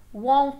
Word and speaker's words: won't: Won't call me by name, only baby. Won't call me. Nem vai pronunciar esse T aí do won't.